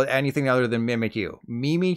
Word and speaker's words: Mimikyu: it mimics Pikachu which means it should be mimic you right by now you should know that's not the case it's actually mimikyu like meme me from The Drew Terry show